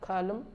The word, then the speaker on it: column: once n comes after n it is not pronounced Autumn hymn column Salem damn condemn and lame silent P silent